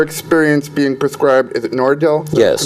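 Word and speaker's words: Nardil: susan and her experience being prescribed is it nordell yes pronounced and that caused her to have blood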